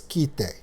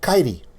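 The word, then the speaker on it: Kitee: on how do i know that the finished pronunciation of the word k-i-t-e-e is kitay i would have to research how to pronounce the city kite in finnish because in english that's kaidi ki followed by a t with with a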